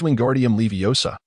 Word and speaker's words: Wingardium Leviosa: Your pronunciation is incorrect. It is Wingardium Leviosa, with some letters needing to be elongated.